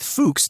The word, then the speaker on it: Fuchs: That that news station um is named after William Fox, who was William uh Fuchs in Germany.